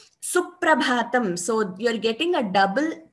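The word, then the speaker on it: सुप्रभातम्: If you listen to the pronunciation, it is Suprabhatam. Now we don't say Suprabhatam. We say Suprabhatam. There is an extra stress which you hear before the P.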